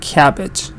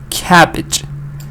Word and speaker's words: cabbage: to know the syllables this word has two syllables okay one syllable is Ka and that the other syllable is pitch it has two syllable and I want to know where to put this stress so the stress is here the first part cabbage cabbage the part that is